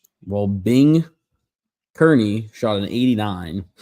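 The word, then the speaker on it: Kearney: Well, Bing Kernney shot an 89. Spell that for me. Just Bing K E A R N E Y. Bing Kernney.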